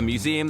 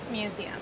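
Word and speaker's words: Mmuseumm: Welcome to museum. That curb's dangerous, by the way. I almost killed myself. So, the double M is silent.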